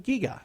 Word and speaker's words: Gigha: So if you're looking for some place to go and you're trying to find a job, maybe the Scottish island of Giga. Gigha is how you spell that if you're trying to figure out how to find it online so you can go there.